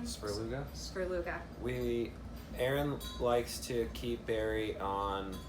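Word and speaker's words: Svrluga: Sperluga.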